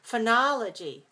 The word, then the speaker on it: phonology: to the next word phonology oh yeah i'm interested in that phonology the person phonologist phonologist notice those o's they're not all the same sound they're all different do you see the difference watch my mouth weak